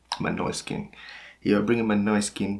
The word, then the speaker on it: Måneskin: bringing my skin on my noise skin this is how to pronounce it my noise skin you're bringing my noise